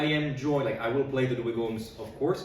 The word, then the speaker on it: Dweghom: Today I am joined, I will play the Dweghoms, of course, the Dweghom, as I've learned it's pronounced officially.